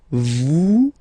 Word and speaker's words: vous: Vous êtes. Same thing here. Notice that final S is not pronounced.